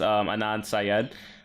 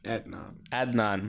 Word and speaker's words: Adnan: I think you said it wrong. Anand Syed. Adnan. My bad. You're right. You got me. He got me. I could be wrong. I was. No, like, it is Adnan.